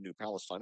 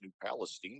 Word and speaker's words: New Palestine: I mentioned it was my first time commentating New Palestine and he he very politely and pleasantly told me the correct pronunciation is New Palestine.